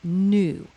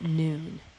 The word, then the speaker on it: Nu: The ancient Egyptians personified the primordial waters in the deity new and it's spelled nu which means watery one or noon.